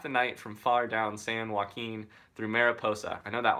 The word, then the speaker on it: San Joaquin: how to say this sanjaya Keane you're Keane San Joaquin Joaquin man I'm so bad at languages thanks Ryan that was dope no problem JP he had written half the night from far down San Joaquin through Mariposa I know that one through Mariposa